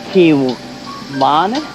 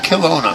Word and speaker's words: Kelowna: I can't pronounce that. Kiwana? Kelowna. Yeah, Kelowna.